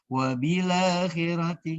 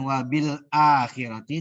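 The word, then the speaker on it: وبالآخرة: Jadi dibacanya wabila akhirati. Nah, gitu. Bukan wabil akhirati tapi dibacanya wabila akhirati, wabila jadi bacanya.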